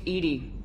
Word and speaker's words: EDI: Why are you named Edie? EDI is the phonetic pronunciation of EDI.